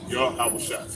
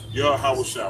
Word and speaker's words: Yahawashi: Yahweh Shai. So that's how you pronounce it. Yahweh Shai.